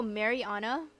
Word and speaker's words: Mariana: Oh, Mariana? Okay, makes sense. I thought it was Marina. I usually go by because people mispronounce it so much. I'm sorry, I'm one of those people. Mariana? Okay, I can see that. I just saw Marina because it reminds me of the villager.